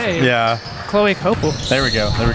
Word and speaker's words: Coppell: gonna say anything I've been making sure I pronounce Coppell correctly yeah Chloe copel there we go there we go Logan here